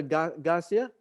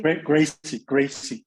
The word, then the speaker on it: Gracie: You think the grandfather Garcia, Daniel, is that Garcia? Am I pronounced properly? Gracie. Yeah, Gracie. Hector.